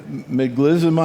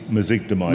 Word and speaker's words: mezigdomide: So what is it? Meglizumab? I can't even pronounce it. It's mezigdomide. Mezigdomide, okay.